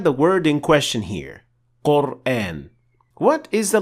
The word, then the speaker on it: Qur'an: So this means that Hamza is an empty mouth letter. So we say A, not A. Therefore, the alif, which comes after it, should also be pronounced as an empty mouth letter. That's why we say Qur'an, not Qur'an.